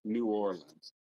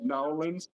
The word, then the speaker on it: New Orleans: But it's always New Orleans. You're never going to actually hear somebody say, if you're pretty much pronouncing it Nolans, you're mispronouncing it.